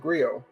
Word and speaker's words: Griot: Yeah, but I think they pronounce it Griot. I don't think the T is pronounced, but I don't know.